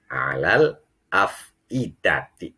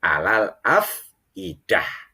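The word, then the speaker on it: الأفئدة: Adapun artinya apa, transliterasinya allati tattali'u alal afidati. Ini kalau dibaca wasol. Kalau dibacanya sambung jangan alal afidat, tetapi alal afidah.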